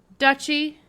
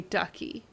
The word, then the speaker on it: duchy: Duchy. That's how you say it. Yeah, but every time I see it, I want to say ducky.